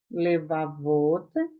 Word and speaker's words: levavot: A sílaba tônica agora está onde? No final. Levavot.